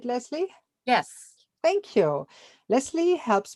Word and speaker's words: Lesley: and today I'm with lesie nay do I pronounce it right lesie yes thank you lesie helps people and pets